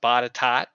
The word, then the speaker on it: Botetourt: Botetourt County is actually pronounced Botetot.